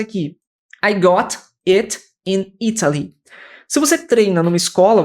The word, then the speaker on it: Italy: E é comum que os americanos, quando eles pronunciarem Italy, eles vão pronunciar como Italy. Esse T tem som de R.